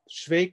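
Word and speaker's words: Švejk: But anyway, Schweig is the proper and correct Czech spelling and pronunciation.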